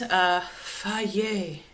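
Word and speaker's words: Fage: I found this, Faye, as it's pronounced.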